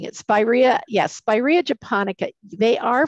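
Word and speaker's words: Spiraea: And our final question here is from Jill, if I'm pronouncing this correctly. Is Borrea japonica considered invasive or aggressive? My foundation plantings did reproduce a bit, which I cleaned up. And it's Spirea, Spirea, okay.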